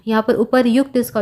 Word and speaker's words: उपर्युक्त: यहाँ पर उपर्युक्त इसका उच्चारण होता है।